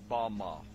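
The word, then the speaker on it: במה: which Satan fell is Strong's Hebrew word 1116 pronounced Bama Bama is most commonly used to refer to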